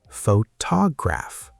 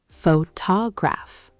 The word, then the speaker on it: photograph: Photograph. The stress is on ta. Photograph.